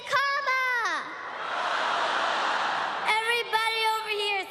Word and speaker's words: Kamala: put it together and it's 1 2 3 comma all right so let's practice let's practice everybody on the everybody over here say comma everybody over here say together for president